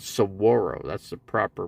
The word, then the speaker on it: saguaro: same height yeah nice saguaro right sug saguaro the g's always pronounced it's not pronounced at all it's silent so it's called saguaro that's the proper pronunciation